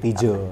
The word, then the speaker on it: Tijo: Cuma karena mungkin aku orangnya retro banget, jadi mengilhami ejaan lama yang belum disempurnakan, makanya Y-nya ganti J, Tijo.